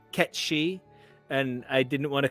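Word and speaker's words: Cait Sith: 7's name is ketchy it's spelled c-a-i-t-s-i-t-h uh Kate Sith but it's pronounced ketchy and I didn't want to come on like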